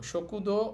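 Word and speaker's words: しょくどう: তো বাদ গেলে তখন ওইটাকে একটু টেনে বলতে হয়। তাহলে আমরা এটাকে বলব শকুদ একটু টেনে বলব সকুদ অর্থ হচ্ছে ক্যান্টিন অথবা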